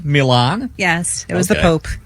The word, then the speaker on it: Milan: Well, I pronounced it right, didn't I? Milan.